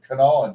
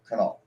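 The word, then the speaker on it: Kanawha: Cherokee means turkey um canol canol well it's spelled k a n a wh a like Canal City Canal County but but but the way it's spelled it looks like canala so again for people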